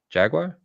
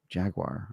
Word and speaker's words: jaguar: way to pronounce it so the way I pronounce animal is Jaguar which Jaguar I I pronounce it Jaguar um but when I